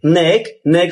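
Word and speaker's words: knack: এক্ষেত্রে কে অনুচারিত থাকে। অর্থাৎ কে উচ্চারিত হয় না। উদাহরণ কে এন এ সি কে নেক নেক অর্থ কৌশল।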